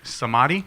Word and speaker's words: Samadhi: and I'm probably going to mispronounce it again. So I'll let you guys. Samadhi.